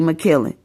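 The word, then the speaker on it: Makiling: M A K I L I N G, and how you would say my name in the Philippines will be McKillen.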